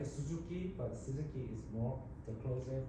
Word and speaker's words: Suzuki: In Japanese, there is no separate U pronunciation, so we call Suzuki, right? Suzuki, but Suzuki is more the closer pronunciation to Japanese.